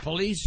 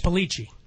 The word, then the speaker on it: Polici: Is that how you pronounce it, Police? Polici. Polici, I'm sorry. Everyone says police, though.